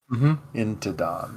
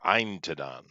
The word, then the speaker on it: Intadon: Intadon. or Eintadon? Eintadon is the Elvish pronunciation. Oh, there you Intadon go. is the human There you pronunciation. go. The correct pronunciation.